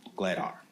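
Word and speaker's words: Glatthaar: Glattar.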